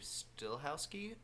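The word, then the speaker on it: Stahelski: I don't know why, but there's a lot of rumors about, because Chad, I believe Stillhowski is how you say it.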